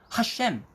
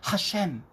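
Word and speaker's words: השם: 여기서 주라고 하는 표현은요, 히브리어 하셴, 문자적으로 직역하면 그 이름이지만 여호와 하나님의 이름을 거룩하게 부르는 표현이에요. 그 위대하신 이름이라는 뜻이에요. 유대인은 하나님의 이름인 이 신성 대문자가 나오면 야훼라고 읽기 상당히 송구스럽게 생각하고 하셴, 여러분 그렇게 발음합니다.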